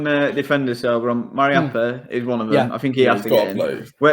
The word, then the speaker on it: Mariappa: Is it Mapara? How do you say it? Mapara? No, the Watford one. How do you say his name? Mariappa.